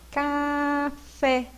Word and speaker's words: café: Por exemplo, se eu falo café, eu falo café. Qual é a mais forte? É o fé.